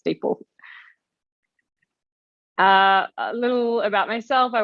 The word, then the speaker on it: DeepL: So curious to know from everyone watching how you choose to pronounce it. Personally, for me, it's DeepL.